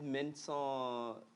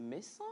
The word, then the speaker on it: Mensan: Yvette Mensan, c'est Mensan ou c'est Mensa? Mensan. Dans le micro, ben, Oui, chez nous à Néro, chez nous à Néro, il y a ça dit des nuances dans la prononciation. Il y a Mensa. Il y a Mensa. Je me suis toujours posé cette question. Mensa et Mensa. C'est Mensan.